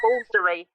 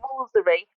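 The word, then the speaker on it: Woolfardisworthy: I like Walsery in North Devon, which is not pron how it's pronounced. Yes. As as Yeah, you say Walsery, but if you see it written down, it's Wardiesworthy.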